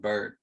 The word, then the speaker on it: Byard: I think it's pronounced Bird.